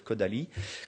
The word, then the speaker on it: Kodály: Elle a travaillé avec un compositeur hongrois qui s'appelle Kodály dans la prononciation en hongrois, qui a développé une